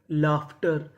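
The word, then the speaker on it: laughter: अब हमारा अगला नियम ये है कि अगर आपको इंग्लिश में कहीं पर यूजी एच लिखा मिले तो हम लोग यूजी एच को पढ़ते हैं फ। यानी हमें यूजी एच को क्या पढ़ना होता है? फ। जैसे एल ए यू जी एच। यहां पे यूजी एच है तो हमें क्या पढ़ना है? फ।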